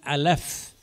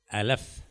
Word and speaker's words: Aleph: So that in the pronunciation of that letter, just like we say A in English, A or B, it's called Aleph. Aleph.